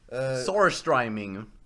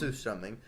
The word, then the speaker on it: surströmming: Okay, so as I was saying, surströmming, Sorstriming. or surströmming. Sour. It's pronounced surströmming, but anyway, people are stupid and think that Swedes actually enjoy it.